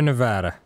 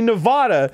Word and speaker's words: Nevada: Because it comes from the word Nevada, which is Spanish, and that's how it's pronounced.